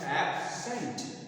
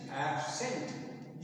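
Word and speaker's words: absent: matter करता है जैसे एक ही शब्द को अगर हम नाउन के रूप में प्रयोग करें और वर्ब के रूप में प्रयोग करें तो दोनों जगह जो है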